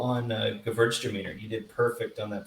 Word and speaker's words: Gewürztraminer: And good call on Gewürztraminer. You did perfect on that pronunciation.